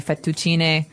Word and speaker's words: fettuccine: in Italian it'd be fettuccine, so you might hear it differently.